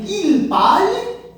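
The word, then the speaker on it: ils parlent: Que a pronúncia vai ser idêntica à terceira singular. Eu digo il parle, no plural, il parle.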